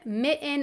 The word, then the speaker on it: mitten: What do button, mitten, and certain have in common? They all are words that have one or more Ts that I don't pronounce.